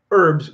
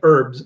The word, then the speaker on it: herb: they were talking about herbs where americans say herbs and canadians say herbs um and then they